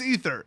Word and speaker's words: aether: um the word ather is it Aether or ether short answer it's ether the it the way they intended it to be pronounced in the more correct way in English is ether it's some stupid old